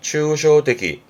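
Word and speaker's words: 抽象的: 발음은 추쇼데기.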